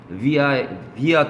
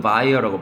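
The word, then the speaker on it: via: 50 며칠에 이게 있죠 비아 또는 바이라고 발음합니다 그 거기 학생들한테는 예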